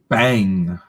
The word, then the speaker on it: bhang: Bang. I don't know how to pronounce this, but it's BHANG.